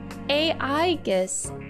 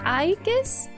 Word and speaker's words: Aegis: The movie trailer pronounced the title as Aegis, but you pronounced it as Aegis?